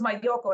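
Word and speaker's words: Malloco: So it's Mayoko. It's spelled like the two L's sound like a Y.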